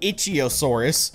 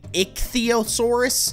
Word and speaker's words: Ichthyosaurus: First of all, this thing I was calling the Ichthyosaurus, which I think is actually a pretty cool name. I was saying it wrong, however, it's actually Ichthyosaurus.